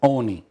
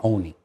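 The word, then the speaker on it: Olney: other day that it's even though it's spelled old me it's oni tony you don't say the l over here you say oni that's right okay and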